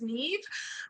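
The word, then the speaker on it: Niamh: my name which is Neeve um it's spelled n a MH um and it rhymes with Steve I know it doesn't look like it does but I promise you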